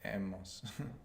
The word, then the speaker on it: hemos: Hemos. H-E. H-E. Good. And that H comes from haber, that silent H that you have there.